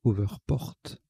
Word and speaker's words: hoverport: r p o rt alors je rectifie la prononciation c'est over porte on prononce à l'anglais donc au vert porte